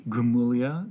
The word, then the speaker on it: Gramuglia: twitter at uh a gramulia so that's a-g-r-a-m-u-g-l-i-a at twitter it's it sounds like gramoglia but the g is silent you should hear the